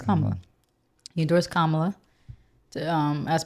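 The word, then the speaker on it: Kamala: kamla I I feel I keep saying her name wrong kamla right it's kamla you endorsed kamla um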